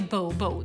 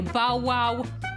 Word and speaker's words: Bobo: Alltså det heter ju Bobo. Bao-bao. Det är liksom en rosett. Bo. Och sen Bobo. Men han säger Bao-wow.